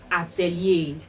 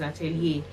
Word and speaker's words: Atelier: said it spells a-e-l-i-e-r i think it's a french word um sometimes it's pronounced italia but i think the right pronunciation is atelier and you know it's